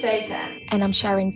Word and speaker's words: seitan: The That's food, what not Satan. Seitan. that's what Google said. Okay. It's Seitan.